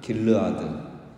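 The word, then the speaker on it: גִּלְעָד: 정확히 발음하면 갈르엣은 그 갈르에드입니다. 갈르에드. 그리고 길르앗은 정확하게 발음하면 길르아드. 그러니까 비슷하죠. 갈르에드, 길르아드.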